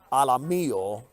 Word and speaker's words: Alamillo: Eric Alamillo is on deck. Rhymes with amarillo, which is Spanish for yellow.